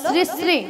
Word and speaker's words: শ্রী শ্রী: কেন আরে মাসি ওনার নাম ছিড়িছিড়ি নয় বলো শ্রী শ্রী কি বল শ্রী শ্রী সিড়ি সিড়ি সিড়ি সিড়ি